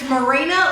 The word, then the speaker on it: Merina: Alright, so if you're new here, my name is Merina, like a boat dog, just spelled differently.